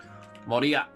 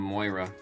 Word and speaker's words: Moria: Moria. Finally saying Moria instead of Moira. Always have that friggin' Overwatch character pronunciation.